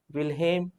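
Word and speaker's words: Wilhelm: the name of John विलियम हिट्रोफ and Julius Plucker मैं फिर से कह रहा हूं जोहन विलहेम हिटरफ इसलिए पढ़ा जा रहा है इसलिए लिखा जाता है क्योंकि ये जर्मन नेम है भाई बट व्हेन वी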